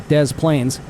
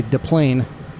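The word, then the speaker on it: Des Plaines: the Dez Plains River, which is actually pronounced around here as Dez Plains. In French, you would say Delane just like you leave the s off of Illinois when you say it properly.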